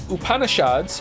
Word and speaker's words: Upanishads: The Vedas, pronounced Vedas, and Upanishads, your pronunciation was quite close, are actually ancient Hindu texts.